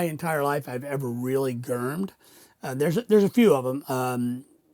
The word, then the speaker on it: gherm: Gurm. It's spelled Gherm, pronounced like Gurm, GH, but spelled Germ, Germ.